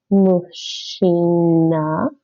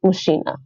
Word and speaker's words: мужчина: This is a zh sound usually. Mush. And that's ch. Mush.